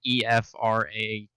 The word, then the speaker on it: Ephrath: Ephrath is Efrath. Hold on, I'll spell it in the chat. I think it's EPH, but I could be wrong. It's EPHRATH. No. Yeah. Like a weird if your crack ship was Ephraim and Wrath.